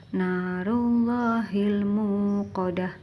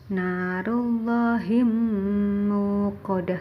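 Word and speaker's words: نار الله الموقدة: Narullahil muqadah. Tidak boleh narullahim muqadah, tidak boleh, harus terang.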